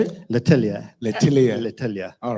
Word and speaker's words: L'Atelier: L'Atelier.